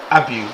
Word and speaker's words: Abbew: The name is actually pronounced Abbew, but people say whatever they want.